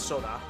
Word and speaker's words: Sora: Sora is actually pronounced Soda.